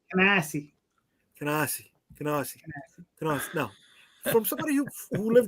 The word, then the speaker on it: Canarsie: The exit to the right on the highway is Canarsie.